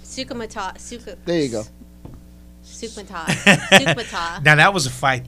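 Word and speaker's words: Soukhamthath: Is it, how do you pronounce it? Sukasathan or something. Sukumatath. There you go. Sukmata.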